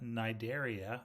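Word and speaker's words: Cnidaria: sponges that's the porifera nidaria the C is silent those are going to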